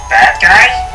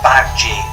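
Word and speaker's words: Badguy: a tour manager to help them decide Dominic bad-guy Fozzie Bear couldn't believe that was really the tour managers named Dominic corrected him it's pronounced back gene his French it means good The Muppets not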